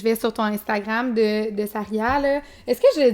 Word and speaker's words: Sarya: Et non, c'est pas Saira. Parce que il y en a qui disent des fois, là, je me fais déformer ça, écoutez, il y a beaucoup de prononciations différentes. Mais c'est bien Saria, ok, parfait.